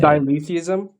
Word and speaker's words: dialetheism: and diatheism? I think that's how you say it. Dialetheism.